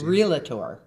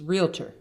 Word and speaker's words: realtor: I've heard realtor. Terrible. It's realtor.